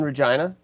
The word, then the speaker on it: Regina: Yeah, I'm in Regina, the city that rhymes with fun.